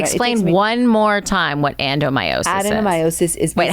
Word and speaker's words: adenomyosis: Explain one more time what adenomyosis Adenomyosis is.